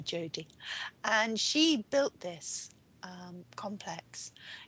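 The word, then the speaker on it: Dijodi: Her name is spelled D. Jody, D-I-J-O-D-I, but we call her Jody.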